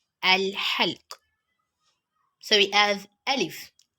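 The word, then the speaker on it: ألف: halk so we have alif alif ah the pronunciation of alif is similar to that of letter a in english and the example of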